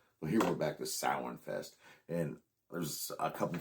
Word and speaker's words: Samhain: Because I did call it Samhain because of the Halloween movie. Dr. Loomis sees the Samhain written out, and that's how he pronounces it.